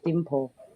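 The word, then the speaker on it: Limpho: Oh, just a heads up, it's spelled with an L, but it's pronounced with a D. Sorry about that. It's Dimpo.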